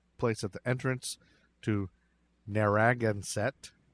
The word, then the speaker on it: Narragansett: at the entrance to narragansett bay i've never been able to say that that's how you say it i looked it up